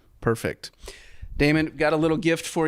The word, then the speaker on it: Daymond: I'm The Shark Daymond, but my name is spelled like Raymond, but with a D. Perfect. Daymond, got a little gift for you here.